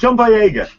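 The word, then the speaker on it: Boyega: gonna see how embarrassing this no okay John bya that's it got it I Sayo for some reason anyway so John Baga and also um the woman who's playing um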